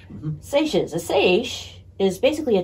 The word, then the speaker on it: seiche: They can even trigger tsunamis, or, how do you pronounce this? Seiches? Yeah, seiche. Mm-hmm. Seiches.